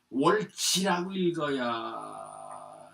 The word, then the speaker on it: 월지: 시시에 이때에 뭐냐면 동호강 요것도 월지라고 읽어야 될 겁니다. 그래서 이제 이 시자를 사람의 이제 시명이라든가 성시라든가 할 땐 시라고 발음을 하는데 이게 지명이라든가 이렇게 할 땐 이 시자를 갖다 지라고 읽습니다.